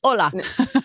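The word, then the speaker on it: olá: saying hello in Spanish they just spell it differently Spanish people Mexican they put an H in front of it the Portuguese goes no it's ola is ISA me exactly right exactly you know we we took we took that silent h off there nobody says it anyway it's confusing right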